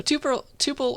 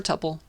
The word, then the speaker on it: tuple: know top top hole how about that so tuple or tuple pick your poison i like tuple all right